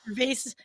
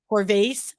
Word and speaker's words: Corvase: company out of Canada so that's Michael Vase and by the way mispronounced his name on Mike um so we gotta apologize to Mike on that one it is corvase Michael corvase who is